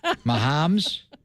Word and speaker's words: Mahomes: How do you pronounce his name? Mahomes.